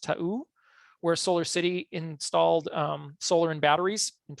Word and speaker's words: Ta'u: If we look at places that have done this with this technical challenge, we're looking at, I think it's pronounced Ta'u, where Solar City installed solar and batteries in 2016.